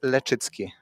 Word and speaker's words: Leczycki: Uh how do you pronounce your last name with L? So it's lechitzki. Letitski.